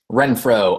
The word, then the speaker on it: Renfro: Renfro, Rentfrow, just like it's spelled.